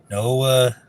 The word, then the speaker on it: Noa: Well, it's like Noah, but minus the H. Noah Torson.